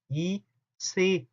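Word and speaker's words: ICE: 그 중에 여러분들 이체, 이체라고 말하는 것들이 있어요. 근데 사실은 이체에입니다. 이체에, 이체하고 달라요. 발음 자체도 이체에, 인터시티 익스프레스거든요.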